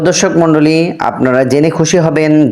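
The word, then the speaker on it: حاء: হা হা গলার মাঝখান থেকে উচ্চারণ হবে হা।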